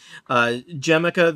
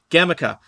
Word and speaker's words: Gemica: Jemica, there is a... Gemica? Mm-hmm. Gemica. Nope, those both sound wrong. Hard G. Gemica.